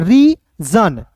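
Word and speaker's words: reign: जा यहां पे देखिए री जन यहां पे देखिए री जन ठीक है जी यहां पे जो है एन के पहले जी आया इसको साइलेंट करेंगे यहां पे देखिए शासन का शासनकाल हो जाएगा।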